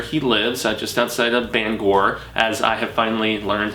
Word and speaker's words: Bangor: in Maine where he lives, just outside of Bangor, as I have finally learned how to properly pronounce it, you manians, you maniacs, haha.